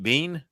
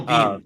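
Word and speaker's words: Biehn: for for you know is how you pronounce his name right Bean Michael Bean Michael Bean yes right that's what I thought so yeah so to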